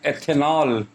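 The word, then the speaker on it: ethanol: तो क्या प्रोनाउंस करते हैं इसको, हम लोग इसको बोलते हैं एथेनॉल, इसको बोलते हैं एथेनॉल।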